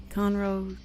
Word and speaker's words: Conroe: And we're here with Brian Bondi, who is the president of the Lake Conroe Chamber of Commerce.